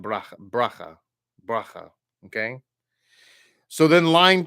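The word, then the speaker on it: ברכה: Baraka. Not like Baraka's name. Baraka is definitely Baraka, but it's more like bracha.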